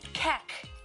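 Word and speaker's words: kek: Keck. Huh? What does keck mean? Did I pronounce it right?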